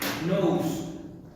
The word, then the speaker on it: nous: Tiene que ver con una palabra griega que es nous, así como nariz en inglés.